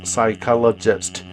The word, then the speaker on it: psychologist: Clinical psychology. P가 묵음이에요. Clinical psychologist.